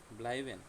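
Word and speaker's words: bleiben: ব্লাইবেন, ব্লাইবেন অর্থ হচ্ছে থাকা। এটাকে ভেঙে উচ্চারণ করলে ব্লাই বেন, ব্লাইবেন অর্থ থাকা।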